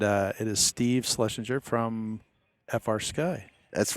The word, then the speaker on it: FrSky: FrSky?